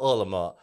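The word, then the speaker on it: 饿了么: Proper pronunciation is called Ulama. Ulama. Ulama okay, in Chinese is sounds like it's you hungry. Are you hungry?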